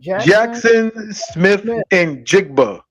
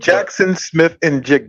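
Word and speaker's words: Jaxon Smith-Njigba: Jackson Smith and Jigba. Jigba. Jackson Smith and Jigba.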